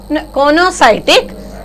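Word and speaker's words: coenocytic: One is conocytic. Here E is silent. Okay, conocytic.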